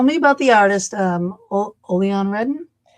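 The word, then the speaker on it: Odilon Redon: So now tell me about the artist um Olon Redden. Yeah. Yeah. I I 1800. Yeah. The way I pronounce it is probably not perfectly the way the French do. Odolon Raidon.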